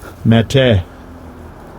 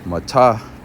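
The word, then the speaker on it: מטה: Mate. Mate. And obviously they say it wrong. It really would be matah.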